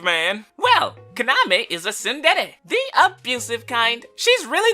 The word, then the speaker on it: tsundere: Actually, it's pronounced tsundere, although a lot of YouTubers say tsundere, so Tsundere is a